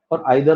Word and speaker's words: either: तो ऐसे ही आइदर और नीदर नॉर, ईदर और आइदर और, दोनों प्रोनाउंसिएशन करेक्ट है, गलत दोनों में से कोई भी नहीं।